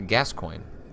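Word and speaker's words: Gascoigne: weapon any encounter becomes brawl gory fanto says pronounced a gascoin okay but I like citizen Kang saying guacamole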